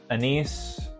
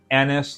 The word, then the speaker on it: anise: caramelly syrupy mild spice little anise or anise however you like to pronounce it anise not anus the child in me